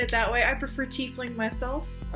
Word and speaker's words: Tiefling: And we're going to start with my absolute favorite race to play, Tieflings. I mean, who doesn't like a good tiefling? Oh, wait a second. Good. Or is it Tiefling?